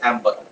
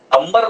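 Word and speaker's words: amber: है, generally that is एम्बर। ठीक है, अंबर मत बोलना हिंदी में, नीले नीले अंबर वाला गाना, वो अंबर अलग है, या एम्बर है।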